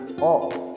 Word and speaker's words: を: Nah ini juga sama ya minasannya, dibacanya o.